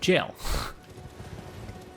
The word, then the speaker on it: gaol: I'm thinking of Hypogean Jail, which I believe is pronounced jail.